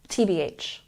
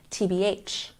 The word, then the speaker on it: TBH: the letters correctly TB when we use the slang term we put the stress on the last syllable tbh tbh once again TBH